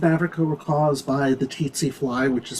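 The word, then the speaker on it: tsetse: that diseases in africa were caused by the titsy fly which is spelled t-s-e-t-s-e she apparently ran it through spell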